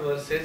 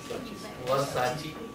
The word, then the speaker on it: Versace: They said, it's not verses, it is Versace.